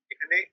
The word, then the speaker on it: est: এখানে Dans le lit. ইএসটিটা বাদ গেল কেন এখানে? EST আমি বললাম এটা একটা ভার্বের কনজুগেশন, এটা এ হয়। EST হচ্ছে একটা ভার্বের কনজুগেশন, এটার উচ্চারণ এ হয়।